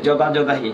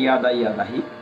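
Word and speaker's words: यदा यदा हि: জানে, সেটা বলা হচ্ছে যদা যদাহি। যদি সংস্কৃতে আমরা উচ্চারণ করি ইয়াদা ইয়াদাহি, ইয়গ, আমরা যুগোস্লাভিয়া বানানটা ওয়াই দিয়ে লিখি, ইয়োগোস্লাভিয়া, ঠিক এরকম ইয়দা ইয়দা ইয়দাহি, যদিও বলা হয় তাকে যদা যদাহি।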